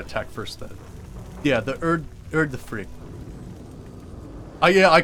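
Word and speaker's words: Udyrfrykte: Yeah, the Urdafrict. Yeah, I called it the Urdafurke. Yes, that's exactly what I called it. Let's talk to Nell. But no, it's the Urdafrict.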